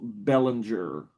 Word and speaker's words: Bellinger: Everybody says my last name wrong. Bellinger. Bellinger. Bellinger.